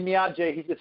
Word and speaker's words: Niaje: Say to him, Niaje. Niaje. Niaje. Okay? Niaje. Okay. So I don't know how to spell it, but phonetically it would be like Niajay.